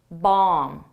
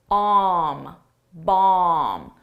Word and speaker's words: bomb: Tomb bomb. So there's two things to notice the bees are silent in both, you don't pronounce it but the vowel is different. Umm tomb, bom, bom they found a bomb in the Tomb and